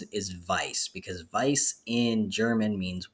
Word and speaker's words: Weiss: we're talking about but the correct way to pronounce it is vice because Vice in German means white so white